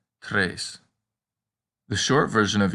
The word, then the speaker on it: tres: the letter a but if you know the numbers in spanish it's easy to remember that three in latin is pronounced tres the short version of